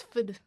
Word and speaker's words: PhD: no, it's Fid. They never pronounce PhD correctly. Oh, well, I'm It's Fid.